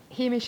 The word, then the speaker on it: Hameish: hish so it's so the hamish is spelled h a m e- i sh so I think in many ways because we like anish yeah most things are